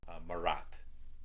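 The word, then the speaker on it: مرات: All right, so sometimes means, or is pronounced marat in Arabic. Marat.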